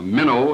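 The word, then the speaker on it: Minow: directing to Mr Newton in Mino or Mino as it uh is pronounced I believe who is the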